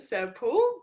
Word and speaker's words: Serpell: for having me um i pronounce it sir paul but no judgment to any other variations of that pronunciation there you go isn't